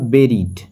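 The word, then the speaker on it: buried: প্রধান হামাস সংগঠনের প্রধান বেরিট এর উচ্চারণটা হবে বেরিট ঠিক আছে বেরি মানে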